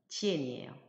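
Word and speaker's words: 见: 발음은 지엔이에요. 지엔은 자음에 해당하는 그 성모와 모음에 해당하는 이엔이 결합을 해서 지엔이라는 발음을 형성했고 거기에다가 사성 성조가 표시되어 있기 때문에 지엔, 지엔, 지엔으로 발음하시면 되겠습니다.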